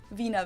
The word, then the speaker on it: Wiener: instead of penis yeah the German WB knows like an English V and it usually refers to the sausage Vina versed in would be